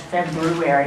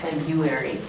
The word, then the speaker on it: February: but in this country Fe February pronounced February not February um my peeves which is